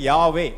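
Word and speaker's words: Yahweh: பாஷையில யாகுவே அதை வந்து அதுல சரியா உச்சரிக்க யாவே அப்படின்னு அவங்க எபிரேய பாஷையில உச்சரிப்பாங்க அது போட்டுருக்கியா இல்ல சரி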